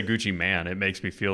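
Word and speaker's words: Gucci Mane: yeah Gucci man go I can't even say Gucci man it makes me feel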